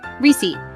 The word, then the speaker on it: receipt: Receipt: instead receipt, the P is silent.